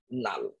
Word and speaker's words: লাল: লাল, ল আকার ল, কিন্তু আমরা উচ্চারণ করছি নাল, তাহলে ল ছিল, ল